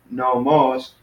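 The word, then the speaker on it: νόμος: on the last syllable here we got two syllables no moss but the accent is on the first syllable sorts no most no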